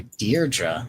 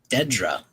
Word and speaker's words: Dedra: I don't know why he was calling her Deardra. Her name is clearly Dedra.